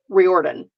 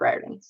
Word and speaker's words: Riordan: anymore is required and Oh fYI it is Rick reordan not Rick Riordan I listened to an